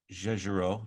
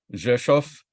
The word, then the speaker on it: Rzeszów: Then on Saturday, we get up and we go to Rzeszów. Did I say it right? Rzeszów. Oh, Rzeszów. Got the beginning, not the end.